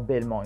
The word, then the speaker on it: Belmont: Or Belmont in Creole, the T is silent.